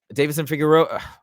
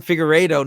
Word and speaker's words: Figueiredo: Nobody is saying, well, maybe some people are, but I don't think anybody's saying, oh, Davidson Figueroa, oh my God, I'm mispronouncing his name. Davison Figueiredo. Nobody's saying fraud check there.